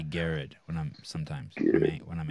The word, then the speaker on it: Garard: uh uh Ricky Gerard am I pronouncing your last name right garage yeah Gerard I like to say Garrett when I'm sometimes when